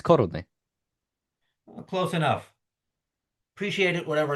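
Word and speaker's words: koruny: Well, in Czech, it's korony.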